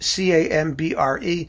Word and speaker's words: Cambre: Our first comment comes from Mr. John Camber or Cambry. I don't know how to pronounce the last name. It's Cambre, so I'll just call him John.